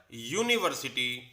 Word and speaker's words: university: The reason here again is the sound of ya in the word university, which is a consonant sound.